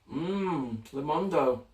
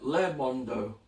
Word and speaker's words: Lemondo: Because like I'm looking at it, it's like Le Mondo. You know, like French people and Canadians. What is it? Lemondo, as in lemon fruit.